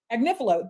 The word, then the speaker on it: Agnifilo: I think right now, how do I pronounce his name? Is it We've been saying Mark Agnifilo. Agnifilo.